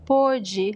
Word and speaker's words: pode: the same word, but in past tense we pronounce pode, a third person, right? pôde e pode in present tense. So it's a very, it's tricky. You have to get that pronunciation of the letter O, open and close.